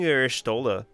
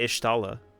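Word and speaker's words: Y'shtola: it's taller rule ishtala i've been calling hershtola this entire for years i've called her ishtala ishtala she pronounced it ishtala see how it glows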